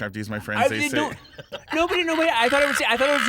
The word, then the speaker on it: Franzese: But like Franzese. it's okay. I was gonna say because it rhymes with Scorsese. Franzese.